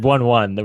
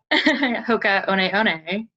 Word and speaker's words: Hoka One One: Except you said the name wrong. You said 1-1, which is. But it's not going to matter soon, right? Hoka One One.